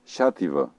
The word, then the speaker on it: Xàtiva: El so inicial de la paraula xàtiva. Fixa't en el so inicial d'aquesta paraula. Xàtiva. Per a reproduir el so de la paraula xàtiva, cal que facis el soroll que emets quan vols demanar silenci.